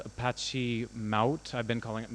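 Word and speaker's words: Mahout: a project called Apache Mount I've been calling it mahoot for ages but it's it's pronounced like Trout the fish um and it is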